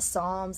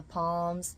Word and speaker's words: Psalms: The Psalms I called the Palms.